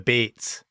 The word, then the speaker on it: Bats: area and of course being kiwi they pronounced their name the baits we the baits the bits that old Armory it